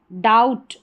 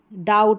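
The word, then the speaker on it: doubt: ठीक है, अब नेक्स्ट देखें, जब किसी वर्ड में बी के तुरंत बाद टी आए तब बी साइलेंट रहता है। बी के तुरंत बाद क्या है, टी आ रहा है, तो यहाँ पर क्या, बी साइलेंट है। ठीक है, डाउट, डाउट, अब डाउट बी नहीं पढ़ा जा रहा, यहाँ पर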